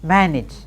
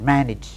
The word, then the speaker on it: manage: AGE and EGE often pronounced as each.